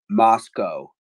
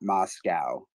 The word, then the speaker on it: Moscow: wrong a couple times I guess the locals pronounce it Moscow not Moscow um yes you're right I've